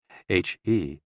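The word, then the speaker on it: 呵: HE, pronounced like her, with a yawn, which is associated with the heart.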